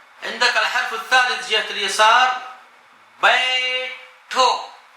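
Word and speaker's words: بیٹھو: عندك الحرف الثالث جهة اليسار بيتو، بيتو، الباء والياء والطاء الطائية والهاء والواو. كيف تنطق؟ بيتو، بيتو، بيتو يعني اجلس.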